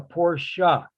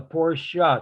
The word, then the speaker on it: Porsche: He says, it's a Porsche. It's a Porsche. It's a family name. And I never forgot that because half the people in this world pronounce it with one syllable.